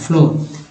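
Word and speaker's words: floor: में हो रहा है, जबकि फ्लोर में डबल ओ का उच्चारण ओ के रूप में हो रहा है, फ्लोर।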